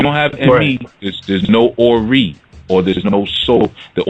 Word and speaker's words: Ori: One of the consciousness that were created was called Ori, which is spelled O-R-I, Ori.